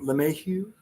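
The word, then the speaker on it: LeMahieu: um who is DJ how do you say his last name lameu lameu yes May he's kind of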